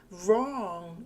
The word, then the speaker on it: wrong: W로 시작을 하지만 이 W는 소리가 없습니다. 그냥 R 발음이 첫 소리라고 보시면 되고요.